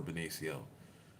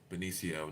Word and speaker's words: Benicio: But I really just came for, I really just showed up for Benicio. Benicio, not Benicio.